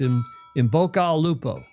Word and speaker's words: in bocca al lupo: You say that all in one kind of, you don't pronounce the AL. It's in Bocca al Lupo.